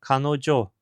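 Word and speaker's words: 彼女: Mais tarde se passou a ler o símbolo de mulher, não como ona, a palavra nativa para mulher em japonês, mas como Jo, a pronúncia usada em muitos compostos emprestados do chinês. Assim, o nome chegou à forma canojo, usado atualmente, e a escrita foi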